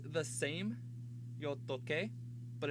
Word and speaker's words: toqué: The reason is if it were spelled like T-O-C-E accent, this would be pronounced tose. And that's not the word. The word is toque.